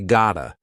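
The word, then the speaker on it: gotta: So instead of saying I got to go, we say gota. G o t a. We'll even write it like that.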